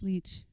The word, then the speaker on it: Lich: line The Ballad of Tamara Lich and uh leech it won't correct you because she she didn't correct me either oh am I pronouncing it wrong it's leech it's Lee it's okay I've been saying it